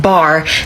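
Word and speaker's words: בר: Earlier we discussed how Beit and Resh together is pronounced bar, which means son, so there are words within this word.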